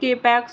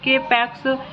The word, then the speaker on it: K-PAX: After claiming he is in extraterrestrial from the planet Capax, 1000 light years away in the Lyra constellation, thought not capitalized and pronounced with a long O rhyming with bot, is committed to the Psychiatric Institute of Manhattan.